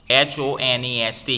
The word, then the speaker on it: honest: university is here c h o n e s t here h is silent so what we pronounce